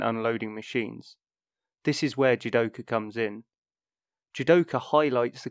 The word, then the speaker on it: jidoka: many machines in japanese judoka is a toyota created word pronounced exactly the same and written almost the same as the japanese word for automation but with the added